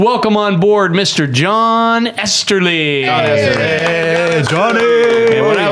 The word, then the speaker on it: Esterly: John Esterly. Hey, Johnny. And what I like about John Esterly, his name when it rhymes with Westerly, which was not the